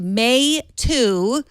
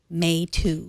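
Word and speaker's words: Meitu: It's pronounced May 2. So the MEI is pronounced May. That means pretty or beauty. And TU 2 means picture or pic. So May 2. May 2. May 2.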